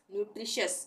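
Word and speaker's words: nutritious: को हम श पढ़ेंगे जैसे ये क्या है न्यूट्रिशस न्यूट्रिशस इसको हम बोलेंगे न्यूट्रिशस यहां प टी के बाद क्या आ रहा है टी के बाद आई ओ तो श का उच्चारण होगा टी के लिए न्यूट्रिशस इसी तरह से कॉशस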